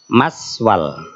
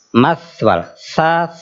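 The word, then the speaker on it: مثوى: kafirin tadi kesalahannya apa maswal Nah jadi ta bedakan dengan Sin kalau Sin mudahnya gampangnya sama dengan s dalam bahasa Indonesia tapi kalau ta itu bukan suara S tapi angin maswaluu maswalil kafirin bukan maswal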